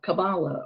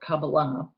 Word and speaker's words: Kabbalah: Their study is called Kabbalah or Kabbalah, whichever way you like to pronounce it.